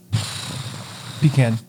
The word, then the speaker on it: pecan: Pecan. Pecan. Pecan pie. What's your favorite kind of pie, Chuck? Pecan pie. You know why? Because I'm not pretentious. All right, it's pronounced pecan. Both are acceptable.